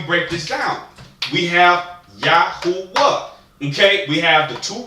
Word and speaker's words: Yahuwah: Now we have the three syllables. We have Yahuwah. Okay, we have the three vowels in there. Okay, so what we need to understand is that we have the two root words. We're making a three-syllable word.